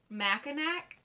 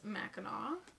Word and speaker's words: Mackinac: nails on a chalkboard when you hear someone pronounce it mackinac mackinaw or mechanic do people actually say mechanic ugh it's mackinaw wait it's nails on a chalkboard when you